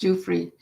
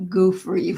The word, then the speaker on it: Giuffre: It's pronounced Giuffre, not Goofrey, whatever I was saying.